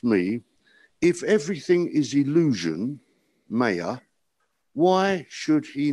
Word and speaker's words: maya: all is illusion maya i don't know how you pronounce maya but m-a-y it's maya maya okay maya consciousness is